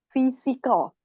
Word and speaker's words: physical: Miss bacanya P physic Oh jadi p sama H dibaca F Oh p p sama H itu kan p sama h j kalau hu P ketemu H itu dibacanya F fisikal I Oh kalau ini